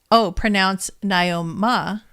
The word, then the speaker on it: Naomi: My mother, Naomi, pronounced Naoma.